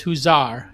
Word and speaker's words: Huzar: Huzar, but it's Huzar, just so everybody pronounces it correct, right?